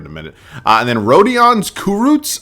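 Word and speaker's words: Rodions Kurucs: a minute and then rodan's kurut I believe is the way it's pronounced he's only 20 kind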